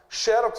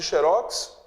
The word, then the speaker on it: xerox: trazem o mesmo significado xérox e xerox mesma palavra só pronunciava de maneira diferente né o chelsea é palavra paroxítona terminada em x xerox é oxítona terminada